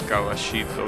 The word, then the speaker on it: Caballito: Well, that we pronounce Caballito because that's what we pronounce the double L. But yeah, it's a mispronunciation of that word, but it's still the way we pronounce it because, you know, Argentinian Spanish being an absolute aberration of the Spanish.